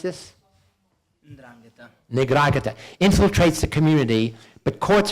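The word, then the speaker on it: 'Ndrangheta: Now, how do you pronounce this? Ndrangheta.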